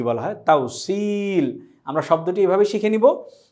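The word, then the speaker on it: توصيل: তাউসিল। আমরা শব্দটি এভাবে শিখে নিব। তাওসিল এখানে সদের পরে ই আছে তাই আমরা এক আলিফ পরিমাণ টেনে পড়ছি।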